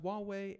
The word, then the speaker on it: Huawei: away hopefully again I'm saying that right and Huawei there we go so it's pronounced Huawei and because you did not know verizon says